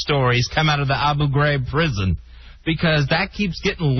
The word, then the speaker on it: Abu Ghraib: you pronounce that name first it's abu ghraib why do you pronounce it differently than our president uh because i pronounce it correctly i pronounce it the way the iraqis pronounce it the president i